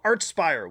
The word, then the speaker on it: Archspire: Then there's also Archspire with Bleed the Future via Season of Mist. And yes, it's pronounced Archspire, not Archspire.